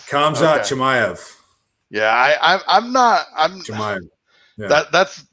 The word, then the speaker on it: Khamzat Chimaev: Khamzat Chimaev. Khamzat Chimaev.